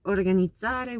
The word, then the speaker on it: organizzare: So organizzare would be with a double Z, like in pizza.